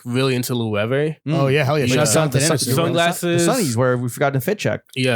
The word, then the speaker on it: Loewe: Loewe. Yeah, my homie Use your from fucking brain. my homie from New Orleans, he was like Logies. I was like, no, it's I'm a Loewe.